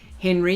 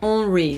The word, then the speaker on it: Henri: Oh, actually, you don't say it like Henry, you go Henri, don't you? Henri Roche, because that sounds very French.